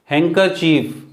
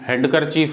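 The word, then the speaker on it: handkerchief: रुमाल हम रखते हैं अपने पास, हैंकरचीफ, हैंकरचीफ, डी यहाँ पे साइलेंट, ये डी जो है सॉरी ये यहाँ साइलेंट होगा, हैंकरचीफ, हैंडकरचीफ नहीं, ठीक, हैंकरचीफ, आर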